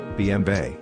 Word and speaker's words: BMW: AG abbreviated as BMW German pronunciation bmba listen is a German